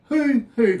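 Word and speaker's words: huhu: Hoo-hoo grub. It's spelled H-U-H-U, grub.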